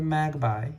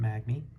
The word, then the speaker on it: Magby: We got the Magby, or the Magpie. How do you pronounce it? I pronounce it Magby.